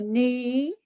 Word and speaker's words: knee: so it's wrist grease and 15 is a knee knee so then no mason that's a silent